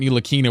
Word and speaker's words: Ntilikina: It's not like Frank Ntilikina where I had to tell people the T was silent.